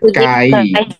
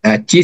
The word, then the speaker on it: chi: Ini bukan chi square bukan ya, tapi kai square.